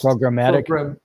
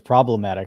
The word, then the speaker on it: programmatic: Programmatic. Programmatically. I kept saying it's problematic. I was like, it's not problematic. How about just programmatic? Sales on the exchanges Right.